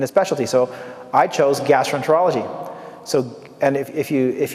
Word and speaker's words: gastroenterology: specialty so i chose gastroenterology so and if you if you if you look at the word uh you know it's gastro enter like enter a door and then ology so sometimes there's mrs